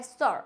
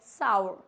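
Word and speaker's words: sour: मतलब होता है खट्टा तो इसको सार बोलते हैं कुछ-कुछ लोग लेकिन ये बिल्कुल गलत होता है सर बोलते हैं इसको हम क्या बोलते हैं सावर साउंड आती है सावर नॉट सार क्या होता है ये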